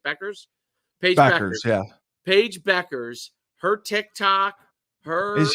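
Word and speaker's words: Bueckers: you say it Beckers Paige Beck yeah Paige Beckers her Tik Tock her is huge it's it's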